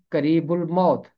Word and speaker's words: قریب الموت: اسے ہونا چاہیے قریب مرگ، یا ہونا چاہیے قریب الموت۔ اور بائبل مقدس میں دونوں تراجم میں یہ